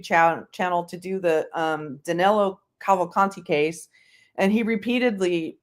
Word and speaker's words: Cavalcanti: He was already on Twitter, but he started up his YouTube channel to do the Danilo Cavalcanti case. And he repeatedly mispronounced Cavalcanti as Cavalante.